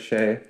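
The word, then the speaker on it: Shai: That's the thing is like for you to get Shea, I'll say it right, Shea.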